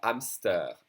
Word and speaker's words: hamster: H, which is mostly silent in French, as in un hamster, un hamster.